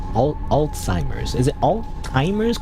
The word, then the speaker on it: Alzheimer's: Um, by the way, how do you pronounce al Alzheimer's? Is it Alzheimer's? Cuz when people say Alzheimer's, I hear Well, I mean, I'm saying right now, but you know, Alzheimer's like all timers, you know, but then